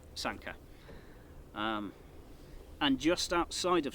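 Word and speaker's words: Sanquhar: Sanka. Yeah, Sanka. Sanka. Um it's not SQA like a lot of tourists might call it. Yeah, a lot of people get this wrong and it's understandable, isn't it?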